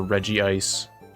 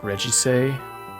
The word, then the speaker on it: Regice: I don't know if it's Regice or Regiice, just because the way that it's spelled. Don't like this thing. This thing's fine. Don't really like... It's pronounced Regice. It rhymes with Illumise.